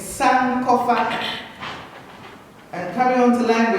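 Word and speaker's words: Sankofa: so I created the operation sand cofa it's San cofa and coming on to line with I'm very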